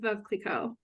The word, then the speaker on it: Veuve Clicquot: Oh, I think I said save water, drink Veuve Clicquot. All right, so I would have pronounced it correctly, but I'm glad you did it for me.